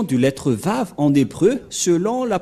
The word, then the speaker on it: Vav: Voilà le Vav. Vav ou W-A-W.